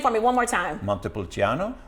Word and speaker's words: Montepulciano: will mute that salt a little bit okay pronounce the name for me one more time montepulciano montepulciano that's a long name and there's multiple channels